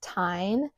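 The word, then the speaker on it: Tijn: This purse was sent to me by the brand Tyne. It's spelled T-I-J-N.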